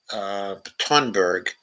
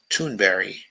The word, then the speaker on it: Thunberg: In the visionary words of Greta Thunberg, blah, blah, blah. Mm-hmm. Okay, it's not really Thunberg. It's pronounced Thunberry, or at least it is according to Amy Goodman.